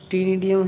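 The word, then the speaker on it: ctenidium: टी हा टी डियम टी डियम इस तरह से लिखेंगे सीटी से और टी डियम सी साइलेंट है टीन डियम यहां पर राइट साइड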